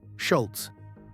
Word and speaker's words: Schulz: Schultz.